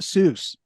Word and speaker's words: Seuss: back on the sauce and was fat it's pronounced Seuss you I don't know but